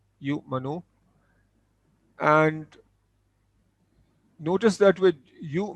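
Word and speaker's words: يُؤْمِنُ: The waw is not pronounced. So this is yu manu. So this is pronounced yu manu.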